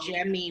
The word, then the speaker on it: Jemi: So I need to put it on to Jemmy, which is kind of like the equivalent of a Cameo, but it's spelled Jemi.